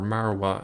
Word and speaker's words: Marwah: but over here is mount moriah or marwah as it's pronounced in arabic over here we see